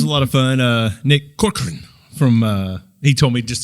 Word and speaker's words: Corcoran: But he was like, just say Cor and then Corcoran. Yeah. So that's how you say it. He said just blur the rest of it.